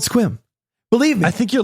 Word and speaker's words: Sequim: Sequim? Yes. It's not Sequim. It's Sequim. It's called Sequim. I drive through it when I go to see the people, the family. I don't believe you. It's called Sequim.